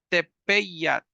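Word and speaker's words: tepeat: palabra que es tepat Aquí hay una e y una a por lo tanto hay que meter como una y a la hora de pronunciar verdad tepeyat tepeyat tepeyat es la creciente e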